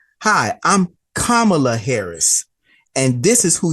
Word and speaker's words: Kamala: shook his hand and and said hi I'm kamla Harris and this is who you're going to